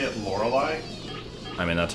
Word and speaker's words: Lorelei: Didn't he say it Lorelei? I mean, that's how it's pronounced, right?